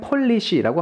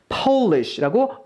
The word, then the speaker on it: Polish: 그냥 포가 아니라 퍼우라는 소리를 갖고 있다는 걸 보실 수가 있어요. 해서 발음을 그냥 폴리시라고 하시면 안 되고 Polish라고 어우 발음을 조금 넣어주셔야 된다는 것을 보실 수가 있죠.